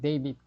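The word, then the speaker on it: David: 그 대표적인게 뭐냐면 우리는 이제 다이한 글인데 미국에서는 킹 다윗 그러지 않습니다. 그 킹 데이빗 그럽니다. 예를 들면요.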